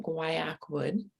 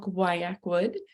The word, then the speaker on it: Guaiacwood: call today we're going to be talking about guayak wood that's how you say it lots of people don't know how to pronounce it it is called guayak wood and if you have a bottle please go